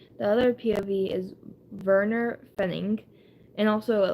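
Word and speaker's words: Pfennig: but it's Werner, and then Fenning, and there's a P in front of it, but ignore the P in German, so Werner Fenning is an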